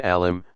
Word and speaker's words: alim: An alim, pronounced a'lim, commonly used singular of